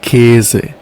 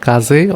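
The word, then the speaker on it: Käse: this one called there K they K okay you see you have a uml out here that's why you would say k not Kaz or Kaz you would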